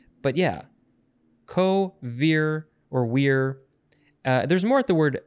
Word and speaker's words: vir: which is spelled v-i-r it looks like veer but they would have pronounced it weir and that means man